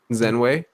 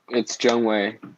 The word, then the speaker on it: Zhengwei: Zenwei. It's Zhengwei. Zhengwei. Oh wow, I've been pronouncing it wrong.